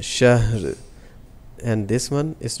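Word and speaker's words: شَهْر: And we're gonna spell it like this: Sheen fatha ha shah ra sakin. Shahr. It's not shahrin, it's shahr.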